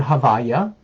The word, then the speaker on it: Havaya: Now, we pronounce it Havaya. That's what we pronounce it, because we're not allowed to pronounce God's name, this name. Even in prayers we don't.